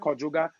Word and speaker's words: Djoga: Djoga is different from Djoga. That's two different things. My name is pronounced Djoga.